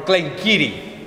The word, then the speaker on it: Glen Garioch: anything but anyway going back to glengarry or glengiri as it's pronounced locally glengiri is the valley of the granary so a